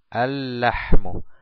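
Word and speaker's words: اللحم: al lam decimos alm alm no pronunciamos el primer lam pero si el segundo con la shadda entonces decimos al la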